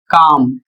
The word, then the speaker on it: calm: उदाहरण के माध्यम से देखिए जैसे लिखा है सी ए एल एम और इसका प्रोनाउंसिएशन काम और इसकी हिंदी होती है शांत।